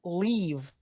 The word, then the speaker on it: Liev: I think it's pronounced looking. Leave.